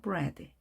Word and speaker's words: bread: 빵은 EA, 이중모음이지만 짧게 발음합니다. bread.